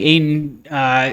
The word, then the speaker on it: Ayton: Does it rhyme with PA? PA? Yeah. No. So it's not DeAndre Ayton? It is Ayton.